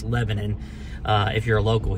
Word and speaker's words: Lebanon: right everybody that was Pete King here in Lebanon Tennessee or if you're non-local it's Lebanon like the country but it's actually pronounced Lebanon uh if you're a local here you know